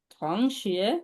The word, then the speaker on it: 同学: থং টি ও এন জি হবে থং, ও এন জি উচ্চারণ হবে অং থং। থং শিয়ে, দুইটা সেকেন্ড 同 বলেন তো।